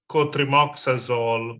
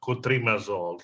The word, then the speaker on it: cotrimoxazole: The one is you mentioned that for pneumocystic uroveci, I think you said, I know that you meant cotrimoxazole, but you said cotrimazole.